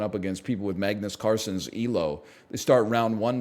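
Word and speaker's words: Carlsen: heck backpack battles Magnus Carson you know I it's it's a soft L he that's how he pronounces it in the original Norwegian it's more like Magnus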